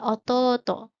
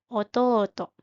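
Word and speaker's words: おとうと: imoto ada adik laki-laki ototo jangan lupa jika ada dua huruf vokal berdampingan maka dibacanya agak panjang contohnya imoto dan ototo dan yang terakhir ada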